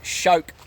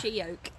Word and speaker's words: She-oak: We're going for a hike into, I think it's called Shoke Falls today. We don't really know how to pronounce it. Shoke. It's She-oak.